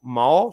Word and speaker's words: Mahó: Mahó són dues vocals, però són dos cops de veu.